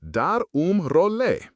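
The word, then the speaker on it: dar um rolê: You might darle, pronounced darum role.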